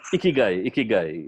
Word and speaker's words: Ikigai: Yeah, Ikigai, yes.